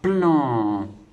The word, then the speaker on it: plan: Donc le P et le L, ça fera pl. Et le en, ça fera plan.